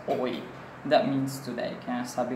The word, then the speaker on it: hoy: Okay, H is always silent. Remember, H, hindi natin pronounce, but in spelling it, we still have to put letter H. Like for example, the word hoy is pronounced as hoy.